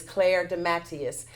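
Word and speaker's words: Claire DeMatteis: claire de Matteis and I've struggled with saying her name the pronunciation of her name for about three weeks I finally have it it is clair de Matteis she's the new commissioner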